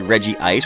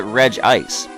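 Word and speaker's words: Regice: you pronounce Reggie ice I go obviously Reggie ice with sort of like two eyes and a lot of people call it reg ice to me that doesn't make sense cuz we have regirock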